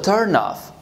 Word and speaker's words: turn off: So I'm going to say, that's such a turn off. That's such a turn off. Okay, so turn off, turn off. Turn off, we stress the second word. Turn off, we stress the first word.